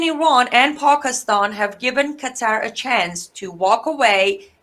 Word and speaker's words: Qatar: Well, Qatar. Well, if I was about to pronounce it very correctly, it's Qatar.